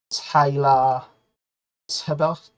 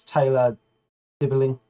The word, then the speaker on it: Dibling: Newcastle's just, according to Football Insider, signed a 16-year-old kid for 6.5 grand, per week from Southampton, and he is called Tyler Tibbert, I believe it is, or I did put